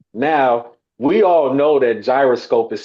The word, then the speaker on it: Jyroscope: So when you see J, It's gotta be a J. You can't help but just say gyroscope. Even though maybe phonetically that probably is the J is probably silent and it would probably be Hyroscope or something like that.